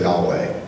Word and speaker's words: Yahweh: When it's spelled out in its Hebrew consonants, it's YHWH. Sometimes in English we say Yahweh.